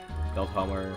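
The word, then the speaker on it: Velthomer: Veltimer is there. Velthammer, how we pronounce it.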